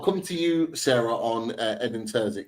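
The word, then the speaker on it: Edin Terzić: about it before we went live is it edin tuik is that right okay got it got it got the pronunciation right um I'll come to you Sarah on edin Turk like how you know how good of a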